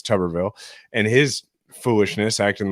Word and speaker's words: Tuberville: about Tommy uh tuberville which a lot of people told me I was pronouncing it wrong it's tuberville and his foolishness acting